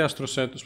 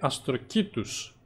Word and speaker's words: αστροκήτους: Ηλία, δεν προφέρεται αστροσέτους, προφέρεται αστροκήτους.